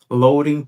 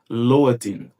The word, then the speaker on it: loading: É como se esse D aqui ele perdesse o som de D e ficasse como se fosse com o som do nosso R fraco aqui no português.